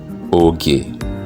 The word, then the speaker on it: oge: can be in between, like I said in starting, oge, ge, oge. That is time, which can sound like saying the letter G or hard G. And in English, the same can be denoted with some English example like go. That is G, go.